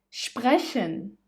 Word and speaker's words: sprechen: SP and ST, you say them as sp and st, sp and st. For example, sprechen, sprechen.